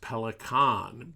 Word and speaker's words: Pelikan: of the company, because in German, Pelikan is pronounced Pelikan, but I have interviewed the distributor of Pelikan pens in the United States, and he assures me in the United States and throughout much of the world, they say Pelikan.